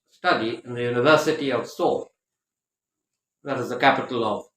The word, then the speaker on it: Seoul: she went there for some research study in the University of Seoul that is the capital of South Korea spelled s-e-o-u-l but pronounced as so okay so like that